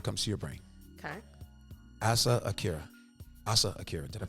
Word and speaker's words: Asa Akira: Asa Akira. Did I pronounce it right?